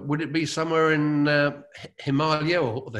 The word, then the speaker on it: Himalaya: Would it be somewhere in Himalaya or the Himalayas, as some people pronounce it?